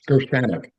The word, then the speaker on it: Gershaneck: And I'm not sure, I might get the emphasis on the wrong syllable, whether it's Joe Gershaneck or Joe Gershaneck. But I think either one, how is it, Joe? Which is right? Yeah, it's Gershaneck. Gershaneck, okay, is correct.